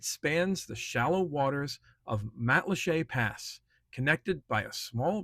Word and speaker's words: Matlacha: Matlacha, pronounced quite like a French word, but is likely a